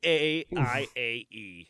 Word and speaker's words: Baiae: B-A-I-A-E. It's Baiae. B what? B-A-I-A-E. Just like what you call your girlfriend. Bay.